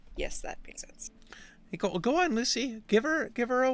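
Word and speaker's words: Loosy: familiar's name uh Lucy Lucy well how cute it's spelled l-o-o-s-y because it's a snake oh that's why that's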